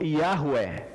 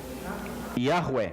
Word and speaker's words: Yahweh: Aí ficou Yahweh. Yahweh. Essa foi a primeira pronúncia que surgiu para o nome de Deus, depois que os antigos hebreus pararam de pronunciar.